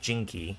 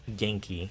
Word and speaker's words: Genki: It's not Jinky, it's Genki.